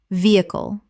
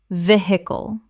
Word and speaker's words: vehicle: muscle muscle Word 197 vehicle Common mispronunciation veh-icle Correct pronunciation vehicle Three syllables with the H almost completely silent. The stress is on the first syllable.